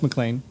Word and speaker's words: McLean: Is it McLean, right? yeah, it's McLean. So I mean, I know it's not spelled like John McClane, but it's the same thing, right?